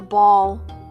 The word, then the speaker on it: Baal: and this god baio some people call it ball i call it bao just depending on your persuasion and how you pronounce it it's whatever it